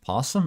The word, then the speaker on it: opossum: it possum or opossum I think it's spelled opossum but pronounced possum I don't know there's